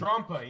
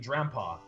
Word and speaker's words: Drampa: Durompa, that Falcor never-ending story looking thing, and Trompa, yes, Trompa. Or do I? Well, well, no, it's actually the correct pronunciation, Drampa.